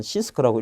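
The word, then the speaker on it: CISC: CI에서 C인데 일반적으로 우리는 시스크라고 읽고요. 그 다음에 RI에서 C를 리스크라고 읽습니다.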